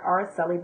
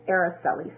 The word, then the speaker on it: Araceli: I pronounced your name wrong. I said Araceli, but it's Araceli.